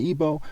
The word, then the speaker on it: Igbo: to spell My Tribe another way to spell is Igbo where the g is silent okay and of course the word chi is also an ebo word in in in